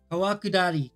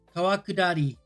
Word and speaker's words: 川下り: Kawakudari. Kawakudari.